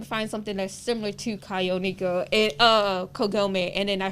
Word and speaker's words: Kagonineko: I was like, it's Kagonineko.